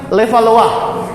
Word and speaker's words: Levallois: 1B adalah teknik levallois itu dari Perancis ya bacanya level Wa kalau saya tidak nanti